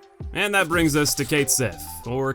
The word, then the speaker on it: Cait Sith: And that brings us to Cait Sith, or Cat Shi if you prefer the proper pronunciation, who I will admit is a character I've never liked.